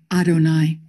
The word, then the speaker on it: Adonai: as YHWH, that should be pronounced Yahweh, we pronounce them Adonai.